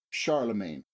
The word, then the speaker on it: Charlemagne: Charles the Great and the English pronunciation for the French name Charles the great is Charlemagne that is the name